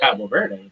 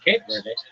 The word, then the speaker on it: Cabo Verde: But we call it Cabo Verde. Somebody else calls it Cape Verde.